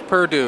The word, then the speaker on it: Purdue: your last name my last name is purdue it's spelled p u r d we yeah no